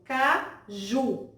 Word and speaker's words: caju: serem fotos por exemplo na palavra caju pronuncia essa palavra observe caju nós podemos observar aí que a sílaba ju a última cena dessa palavra é a sílaba tônica nós observamos que essa